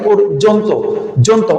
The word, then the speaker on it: পর্যন্ত: একটা হসন্ত দিতে হবে এরপরে আছে অন্তস্থ জ উচ্চারণের সূত্র অনুসারে বর্গীয় জ বা অন্তস্থ যা যাই থাকুক উচ্চারণে হবে বর্গীয় জ তাহলে আমার এখানে বর্গীয় জ বসল এবার উচ্চারণ করেন পরযন্ত নাকি পরজন্ত ওকার আসছে তাহলে আমরা